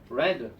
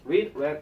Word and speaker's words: read: 그 다음에 여기 read는 과거 분사로 쓰였을 때는 철자는 똑같으나 발음은 다르죠. 그래서 read 3단 변화할 때도 read, read 이렇게 얘기하는 겁니다.